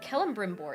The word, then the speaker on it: Celebrimbor: But Celebrimbor is how you say it, says Astro.